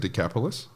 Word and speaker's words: Decapolis: so we're told that throughout is do you pronounce it decapolis yep yeah so we're told that he went